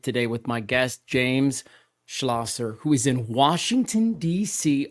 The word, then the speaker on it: Schlosser: your name proper James schlasser so you did and that's actually really impressive because people will say it wrong 10 different times but it's yeah schlasser is the correct way to say it and so okay